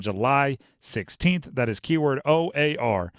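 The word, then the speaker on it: O.A.R.: the fan text keyword o a r i feel like I have to say it that way keyword or yeah well you can misspell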